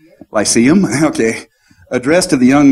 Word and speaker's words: lyceum: to the young men's lit salem in springfield sorry i pronounced that the polish way we say how is it pronounced in english lyceum okay addressed to the